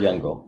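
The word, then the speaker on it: Jüngel: ever ever hard how do you say that jungle yeah ever heard jungle yeah okay so i i was close so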